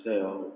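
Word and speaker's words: שאול: est falando da palavra seol seol pronunciado seol em hebraico que significa nada mais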